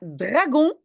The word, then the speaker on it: dragon: Voilà, dragon, je dis G, hein, dragon, parce que le G est avant le O.